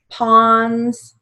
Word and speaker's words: pawns: You can either say aunts or ants, A-U, hands, ends, extends, pawns, has a ah sound, but it's spelled with an O, so we keep it with an O.